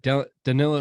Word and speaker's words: Danilo: I don't know how to pronounce Gallinari's name. Danilo.